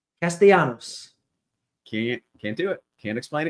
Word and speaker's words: Castellanos: It has like the Spanish double. It's like a Y. Castellanos.